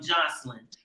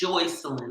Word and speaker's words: Joycelyn: even pronounce my name my name ain't no damn joslin first off it's joycelyn okay so you need to get it right that's why people call